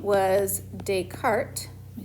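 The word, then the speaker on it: Descartes: and his name was dayart let me spell it right s but you don't pronounce the S so deart uh he is the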